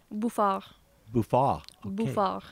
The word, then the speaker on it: Bouffard: what how do you say your last name buah buah buah that almost sounds a little bit French French